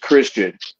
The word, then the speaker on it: Xtian: going to know that Tian is pronounced Christian and I bring more